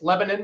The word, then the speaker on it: Lebanon: But I do know it's Lebanon, Missouri, not Lebanon. There you go. Lebanon is a country in the Middle East.